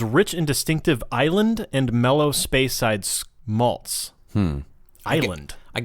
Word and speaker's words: Islay: That spelled Islay? Islay. Oh, you pronounce it Isla? It's pronounced Isla.